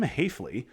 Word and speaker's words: Hafley: Winner of this series gets Jim Hafley, rhymes with safely, in the second round.